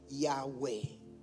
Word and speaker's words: Yahweh: Of course, how do you pronounce YHWH? Until later when they put vowels in it and we got Yahweh.